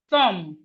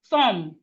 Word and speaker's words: thumb: We have thumb. Thumb. Thumb. Thumb. The B here is silent.